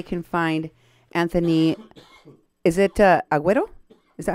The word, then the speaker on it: Aguero: Is it Aguero? Is that how you pronounce Yes, it? ma'am. Okay. Yes. Anthony Aguero.